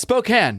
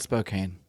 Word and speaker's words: Spokane: Again, that's Spokane, not Spokane. Several weeks of mea culpa on me for that one, but who would ever know? Who would ever know that it's pronounced Spokane unless you're from that area?